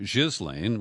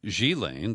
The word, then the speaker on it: Ghislaine: and boyfriend and then sheelane I've been mispronouncing her name Ghislaine which is more phonetic but she Lane the daughter of Robert Maxwell became the procurer of young girls for her former lover mr.